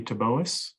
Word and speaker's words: Taboas: Next is Anthony Taboas. Mr. Taboas?